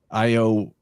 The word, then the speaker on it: Io: entity that becomes jupiter io would be pronounced like yo and the a and